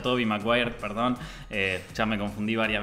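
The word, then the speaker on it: Tobey Maguire: yo quería decir que las pelis de tobei mre están muy bien r está bien ya entendí chicos pusieron todos en los comentarios se pronuncia Toby mire Perdón ya me confundí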